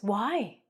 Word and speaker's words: why: The h is silent.